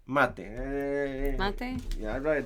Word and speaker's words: mate: What matcha? Mate.